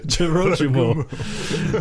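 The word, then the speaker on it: 女郎蜘蛛: Jorogumo.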